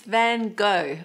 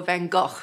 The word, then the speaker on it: Van Gogh: And our third colourful artist is Van Gogh, or Van Gogh, which I think is closer to the Dutch pronunciation.